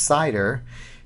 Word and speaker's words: CIDR: you with that address cidr pronounced cider is referred to as